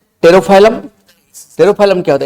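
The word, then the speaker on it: Pterophyllum: परिमच्छा that is द टेरोफाइलम P remain silent tarot फाइलम P silent रहेगा टेरोफाइलम रहेगा इसको aquarium piece कहते हैं ओनली आपको मेराइन बनिफिश बहुत ज्यादा पूछता है।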